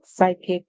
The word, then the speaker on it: psychic: word psychi psychi and the word psychic we said the py was silent the s yes the Y makes a sound like I so we he I then we have the C make a sound like K so we I and